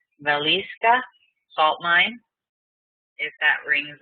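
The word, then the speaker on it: Wieliczka: pronounce this properly because he said the W is a V and the C is probably an S so valisa salt mine if that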